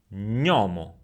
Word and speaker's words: gnomo: If we have a N after the letter G, gnomo, gnomo.